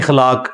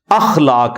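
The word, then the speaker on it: اخلاق: साथ होते हैं मसलन यह लोग बोल देते हैं खलाक खलाक लफ्ज नहीं है अखलाक लफ्ज है तो अगर हम यह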